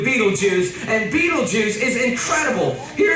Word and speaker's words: Betelgeuse: about this star it's called beetle G's or Beetle Juice you can pick your pronunciation I'm obviously going with Betelgeuse and Betelgeuse is incredible